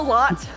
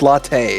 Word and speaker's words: Latte: Hello, Lot. It's Lot, right? No, it's latte.